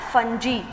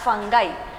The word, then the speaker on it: fungi: So here in this Mycota, kingdom Mycota, this is commonly called as kingdom fungi or fungi or fungi. Pronunciation change ಆಗ್ತಾ ಹೋಗುತ್ತೆ every time. You can able to answer fungi, fungi or maybe fungi, right?